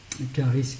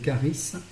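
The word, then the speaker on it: χάρις: Charis qui s'écrit C-H-A-R-I-S.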